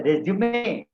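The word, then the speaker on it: résumé: और SUME के ऊपर भी है, it is pronounced as resume, again a Latin word.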